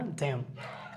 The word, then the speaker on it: damn: ড্যাম, DAMN, এখানে এন উচ্চারণ থাকে না, ড্যাম।